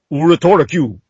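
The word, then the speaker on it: ウルトラQ: Ultra Q, pronounced Uratora Q.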